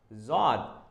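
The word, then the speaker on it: ض: is called in Arabic so it's a z Zod so no dot s Zod dot here as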